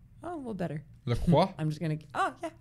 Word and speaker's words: LaCroix: It's not fucking French. Anyone who says it's LaCroix is a fucking asshole.